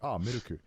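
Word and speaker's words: ミルク: places, you know, milk is traditionally like just pronounced like gunyu, and then now in a lot of coffee places it's like miruku.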